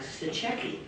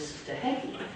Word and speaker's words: Stachecki: Because I was saying, you know, like Stachecki, and it wasn't Stachecki. Forgive my voice, I have a cold, but it was Stahecki.